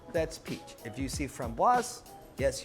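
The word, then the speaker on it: framboise: peach if you see from boss yes you pronounce the S because there's an e at the end which makes it feminine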